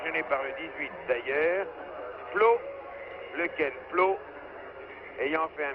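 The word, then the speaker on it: Pleau: Ce n'était donc pas une glace trop glissante, c'est Flo qui a fait un petit croche-pied à l'ami Sushi. Flo étant mis en prison, Flo, ça s'écrit en français, P-L-E-A-U, c'est un descendant de français sûrement.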